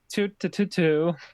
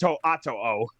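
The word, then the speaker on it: To'oTo'o: Tuatu. To'ato. I believe it's pronounced To'ato.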